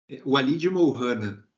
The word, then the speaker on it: Walid Murrana: a Defensoria Pública, doutor Walid Murrana, acho que é. Doutor, por favor, diga logo como pronuncia seu nome para... Walid Murrana. Walid. Walid Murrana.